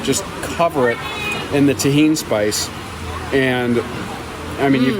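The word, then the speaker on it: Tajín: taking seasoning that i always want to call tagine tagine pronounced tahini tahin i got it and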